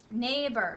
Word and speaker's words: neighbor: EIG in it and it's the word neighbor neighbor share with your neighbor the teacher said neighbor